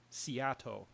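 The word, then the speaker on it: SEATO: they set up the Southeast Asia Treaty Organization which is pronounced seat which is a lot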